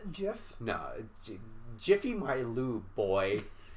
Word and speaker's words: GIF: I have ever seen ever just him serious pronounced jiff no jiffy my loo boy I'm gonna bud